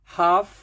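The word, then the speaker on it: half: should LD would डब् ओ य एल डी हाफ एल नहीं बोलना है एच ए एल एफ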